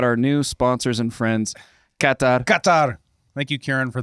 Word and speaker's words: Qatar: Qatar Qatar. Thank you, Karen, for the pronunciation. Make sure we got it right. Katar.